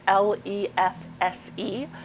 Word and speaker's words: lefse: The recipe is spelled L-E-F-S-E, lefse, and the recipe I made is inspired